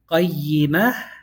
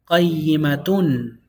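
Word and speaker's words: قَيِّمَة: Qayyimah. Qayyimah. If you stop on it, qayyimah. Because of the tamarbuta. Tamarbuta tells you stop on a ha with sukun.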